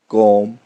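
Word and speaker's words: comb: समझेंगे, जैसा कि टॉम, कॉम, Baum, lamb, क्लाइम, डम। इसमें बी की साउंड नहीं आई है, क्यों? बी साइलेंट था, क्यों? एम के बाद आया।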